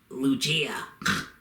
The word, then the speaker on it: Lugia: video and correct me technically it's pronounced lugia but either way i just think lugia sounds better so i'm